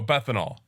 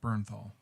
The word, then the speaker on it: Bernthal: Oh, Bethanol. Josh Bethanol. Bernthal. I thought his name was Bethanol. Yeah, no, it's Bernthal.